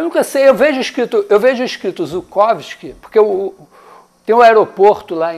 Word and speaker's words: Zhukovsky: é o aeroporto de Zhukovsky. Zhukovsky foi o grande pai da aeronáutica russa, né? Quando traduzem para nossas letras, usa Z. Só que eu vejo a pronuncia como J.